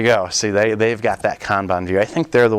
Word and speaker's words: Kanban: where it actually came from but it is pronounced Kanban I think it's Japan and what it is